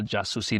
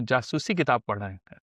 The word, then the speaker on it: jasusi: you know those little jasi novels jasi novels you know jasusi you know that's how you say it in biat so I also thought